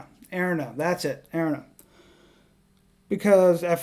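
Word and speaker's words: Erina: Erna, that's it, Erna.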